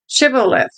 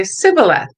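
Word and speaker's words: Shibboleth: said no i'm not they would tell him to say shibolith if he was from ephraim he would say sybileth because people from ephraim cannot pronounce the word correctly then they would take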